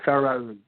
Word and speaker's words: Pharoun: is called, and let's see if I can pronounce this right. No, probably not. The company name is, go ahead. It's Pharoun? It's Pharoun.